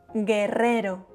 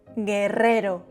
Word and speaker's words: guerrero: Guerrero. G plus U followed by E or I are pronounced ge, gi, guerrero.